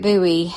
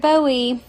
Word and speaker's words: Bowie: a little mad by saying David Buoie instead of David Bowie. A buoy is the thing in the ocean right in the water.